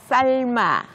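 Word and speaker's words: 삶아: 위에서 배웠었던 거랑 똑같이 리을 미음 다음에 이응이 왔죠 그러면 리을로 발음이 나고 미음이 이응 자리로 가게 됩니다 같이 한번 읽어 보도록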